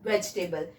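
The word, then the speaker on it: vegetable: नो, इट इज वेजिटेबल. मैं यहां से ई को कट करती हूं. नाउ यू कैन सी the correct pronunciation, that is वेजिटेबल. तो आज के बाद वेजिटेबल नहीं, वेजिटेबल.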